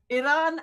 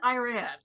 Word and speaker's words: Iran: You know, it's exactly Iran Iran, you know, right or wrong, we're all going to get there together. Just get it in the ballpark. just ish ish, you know, and then you know people from there are called Iranian so the vowel changes even more.